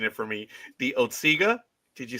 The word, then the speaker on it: Otsego: It's the Otisaga Hotel, but it's Otsego Lake. So you put those two pronunciations together, Roger.